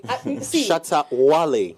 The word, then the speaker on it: Shatta Wale: I had to constantly mention Shatta Wale before. I think maybe the pronunciation. So it's wow. It's Wale. Shatta Wale.